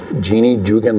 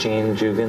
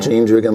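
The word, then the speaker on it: Jeanne Jugan: new theater down in Jeannie Jugan Lane, I think, is that how you say it? I think it's Jean Jugan Lane. Yeah. Jean Jugan Lane.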